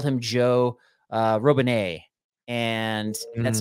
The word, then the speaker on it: Robinet: And that's not, and it is Robinet. Like that's how, like he actually has a video about that as well. So for those who don't know, like that's how you actually do pronounce his name.